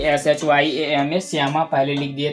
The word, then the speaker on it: श्यामा: इसके बाद है जाके आपका श्यामा, श्यामा लिख दीजिए, SHYAMA श्यामा। तो मैंने इनको पहले ही बता दिया कि SHYAMA श्यामा पहले लिख दिए थे, तो इसको बोलते हैं श्यामा।